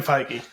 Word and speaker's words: Feige: is under marvel movies fight is it fighty is that how you say yes kevin feige fight oh you pronounce the g oh yeah sorry yeah